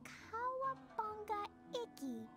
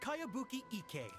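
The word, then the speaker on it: Kayabuki Ikkei: By Kawabunga Iki. Yomiha, this is a really strange name. Who's this Kawabunga? It's pronounced Kayabuki Ike.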